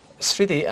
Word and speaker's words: স্মৃতি: সবসময় মফলা উচ্চারণ হবে স্মৃতি এখানে দন্তাস আছে স্মৃতি আর যদি দন্তস রয়ে গেছে স্মৃতি দন্তস রয়ে গেছে স্মৃতিটা হয়ে যাবে কেন হবে কারণটা হলো শুরুতে যদি মফলা থাকে তাহলে উচ্চারণ হবে না যদি শেষে থাকে তাহলে